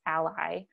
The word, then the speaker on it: a11y: to again web accessibility you will see a11y also pronounceable as ally in links that i include